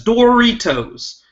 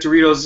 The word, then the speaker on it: Doritos: point in the fight Goldie was pronouncing the popular snack Doritos as door retos constantly not saying that Doritos isn't a step up